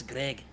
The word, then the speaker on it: Gregjj: She was asking where it is, not where, Greg not silent J. Oh. might be asking where it is physically. Well, it's at the end of his name. His name is spelled Gregjj, but the J is silent.